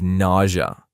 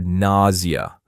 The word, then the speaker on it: nausea: I've had a lot of nausea or nausea or nausea for two days.